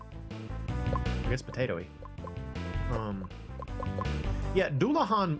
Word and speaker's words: Dullahan: Yeah, Dullahan was a word that I mispronounced for a long time. I used to say Dullahan, but I think Dullahan makes more sense based on the fact that it's like a Irish thing.